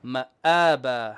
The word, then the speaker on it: مآبا: مآبا. Hamza, not Ain.